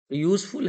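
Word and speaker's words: useful: यूजफुल है, या से प्रोनाउंसिएशन हो रहा है, इसीलिए यहाँ पे ए आर्टिकल आएगा।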